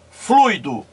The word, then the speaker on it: fluido: logo aqui a diferença veja fluido duas sílabas fui do rui no do silas na primeira sílaba aqui ó tem aqui a advogar 11 mais forte ea semi vogal i temos aqui portanto um ditongo não é isso fui flui olha aqui o 11 é pronunciado mais forte logo é vogal wii